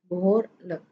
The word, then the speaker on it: behoorlijk: Behoorlijk. Ini kita membacanya lek. Behoorlijk. I dan J kita membacanya lek. Oke.